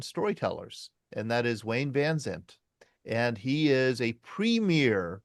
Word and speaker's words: Vansant: Vansant. Vansant. Yep. Just like it's spelled.